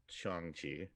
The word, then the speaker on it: Shang-Chi: care about oh no not you cody uh shang chi for sure um thor ragnarok and uh guardians of the galaxy one oh that's your knight three right uh it's chongchi actually it's pronounced manga ragnarok also with cody i love